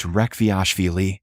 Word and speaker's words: Rekhviashvili: "It's pronounced Rekhviashvili, sir. It's Georgian, the country, not the American state.